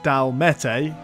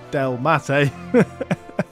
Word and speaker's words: Delmatae: So, yes, we're on to the Delmatae, not the Dalmete, the Delmatae.